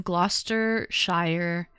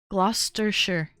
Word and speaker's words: Gloucestershire: Gloucestershire. Gloucestershire. Thank you. It's created in the town of Gloucestershire. It's so funny the way that it's pronounced then and the way that it's spelt is completely different.